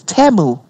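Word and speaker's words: Temu: the representative from teu it's not even teu it's TAMU and I'm like so he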